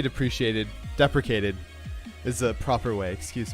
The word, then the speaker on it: deprecated: In the role software realm, depreciated refers to functions or elements that are in the process of being replaced by newer ones.